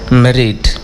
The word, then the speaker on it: Madrid: It's nice to be in, I'm going to try and say it like I've heard people say it, Madrid. Because I feel that the D is almost silent.